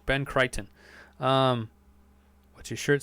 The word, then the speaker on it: Crichton: you say it right Ben Crichton what's your shirt say on the in deGrasse